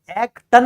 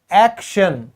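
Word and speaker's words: action: एक्टन नहीं बोलेंगे ना, ट किस में बदल गया, श में, क्यों बदला, TION को इंग्लिश में हम प्रोनाउंस करते हैं शन की तरह, ठीक है।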